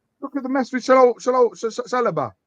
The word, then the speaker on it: Saliba: Look at the mess with Saliba. Not Saloba. Saliba, I'm going to say it right.